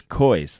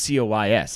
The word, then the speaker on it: COYS: this coys won't change instead of cois he says kois like he's koi's it gives me the fist bump which stands for come on you spurs but i don't think i i think it's just cois i don't think anybody